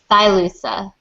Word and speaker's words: Silusa: So I have to ask, is your agent name pronounced Silusa? Silusa? What the heck does it mean? Silusa, and it's a former gaming handle I used